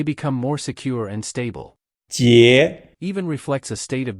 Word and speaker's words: 結: The pronunciation of the character 结 can be associated with the first syllable Jack from Captain Jack Sparrow, which we previously linked to the word 解 meaning older sister.